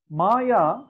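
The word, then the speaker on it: माया: Maya has two syllables.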